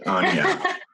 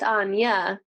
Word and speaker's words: Anja: It's just Anja. I spell it Anja. It's pronounced Anja because my mama is German, and so J's in the German language is pronounced with a ya.